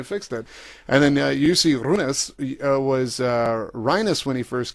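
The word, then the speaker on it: Rynnäs: guys standing there, Runas, like we're rolling the R's like it's roll up the rim to win time or something. So anyways, we got it, and that's how Jussi Runas is the proper way to say his name.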